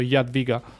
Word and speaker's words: Jadwiga: I think it was you last time that taught me the Polish pronunciation. It's like ja in German, so Jadwiga.